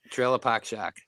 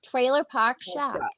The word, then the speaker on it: Trailer Park Shark: Yeah, no, it's Trailer Park Shark. I got so much shit for that. Did I say it right? Trailer Park Shack. Trailer Park Shark. Trailer. Trailer Park No. Shark. Say it with me.